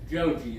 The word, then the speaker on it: Joji: Joji, is that how you say it? Joji, yeah.